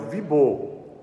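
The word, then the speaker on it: Wibeau: frequenta a escola e o professor chama ele de Vibal, porque o Vibô é em francês, né?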